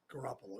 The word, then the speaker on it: Garoppolo: they got for a lot i can't pronounce the name the quarterback's name garoppolo garoppolo yeah that's right you got it okay he